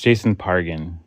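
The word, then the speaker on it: Jason Pargin: in a massacre, and Quit saying his name wrong. It's Jason Pargan.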